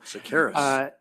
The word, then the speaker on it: Seqirus: Let's move to the third amendment on the product purchase agreement with Seqirus. I'm sure I'm not Seqirus. pronouncing that right. Yes. Seqirus? Listen to the CFO pronounce it. So Seqirus.